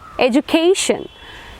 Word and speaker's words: education: Ending in ion, stress will be on the penultimate syllable. So it will be in like education.